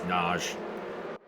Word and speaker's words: Nagy: I guess it's a really popular last name there, and it's generally pronounced as Naj, which is intriguing.